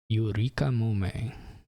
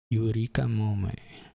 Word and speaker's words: Yurikamome: Yurikamome. Yurikamome.